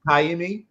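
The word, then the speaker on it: Ka'imi: him Strait up Muslim cayi is how it's pronounced he's is it is it Kimi okay Kimi is how it's pronounced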